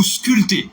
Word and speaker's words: sculpter: Tant que baptême, tant que dompter, tant que sculpter. Alors, m'ta même écrit ça pour moi, mot ça. Sculpter. Ah, P non, mot ça va prononcer, non.